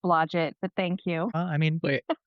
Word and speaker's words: Blodgett: It's Blodgett, but thank you. Wait, I thought it was I've heard it pronounced Stephanie.